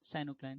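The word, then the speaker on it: pycnocline: Density gradient in body of water is shown by साइनोक्लाइन, साइनोक्लाइन P silent रहता है इन सब में।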